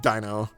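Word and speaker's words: Deino: I think it's supposed to be Dino because of the whole German iron vi dry thing.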